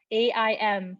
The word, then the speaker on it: Aim: If you need a mantra, Aim, A-I-M, pronounced Aim, Aim, Aim.